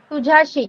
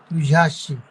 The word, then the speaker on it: तुझ्याशी: तुझाशी, आपने वहां पे लिखा है सही, लेकिन आपको प्रोनाउंस रॉन्ग कर रहे हैं. तुझाशी, तुझ्याशी. जो भी लिखा है आपने वही बोलो.